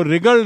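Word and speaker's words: wriggled: तो डब्ल्यू आर आई, तो आई some how रिगल्ड आउट of this situation. I some how रिगल्ड आउट of this situation. W silent है.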